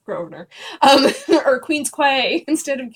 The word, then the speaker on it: Grosvenor: That feels like Grossvestner. It's Grosvenor.